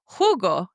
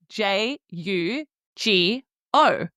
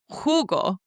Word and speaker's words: jugo: I drink hugo. And hugo is spelled j u g o. And I didn't say jugo. I said hugo because we know that the j sound makes a h sound in English.